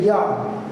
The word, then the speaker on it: yad: When you want to say hand in Hebrew, you say yad. You spell yod, dalet in Hebrew, or if we're speaking English, we would say Y-A-D. But the idea again is, phonetically, it's yad.